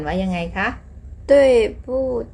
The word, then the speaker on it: 不: คะ เรา สือ ยัง เขียน คำ ว่า ปู้ เป็น เสียง 4 ตาม ราบ ศัพท์ ของ มัน นะ คะ แต่ เวลา เรา อ่าน เรา ต้อง อ่าน เป็น เสียง 2 นะ คะ คำ แรก อ่าน ว่า